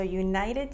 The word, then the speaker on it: United: Notice here that we have United, the T is so subtle, and then postal, it's really there. So United States Postal Service.